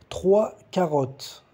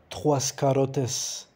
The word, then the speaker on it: trois carottes: 3 carottes, 3 cenouras. Une carotte, uma cenoura. La carotte, a cenoura. E eu lembrei, gente, que o S no fim do plural não se pronuncia. Não é trois carottes, trois carottes.